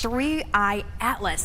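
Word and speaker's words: 3I/ATLAS: Three I atlas that's the correct way to pronounce it.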